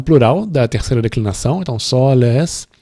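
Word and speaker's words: sōlēs: E aí vai ser preciso uma consulta no dicionário para ver que é soles, né, com O longo. De novo, é um plural da terceira declinação, então soles, o E também vai ser longo.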